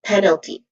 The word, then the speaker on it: penalty: Pronunciation wise, we have three distinct sounds here. Starting with pen, which is the primary stressed or the stressed syllable here. It has a short e sound and then followed by l penel which has awa sound which has awah sound and then another sound is t which has a short e sound. Again it's stress in pen.